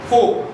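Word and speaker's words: fork: Replication फोक फोक बोलते हैं फोग है। स्पेलिंग क्या है? एफ ओ आर के फोक आर एस साइलेंट।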